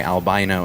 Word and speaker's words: albino: The pronunciation with the long I, albino, is the American pronunciation.